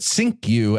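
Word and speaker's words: Cinque: Takeover of the slav ship Amistad okay well pronouncing it sinku actually makes a lot of sense there he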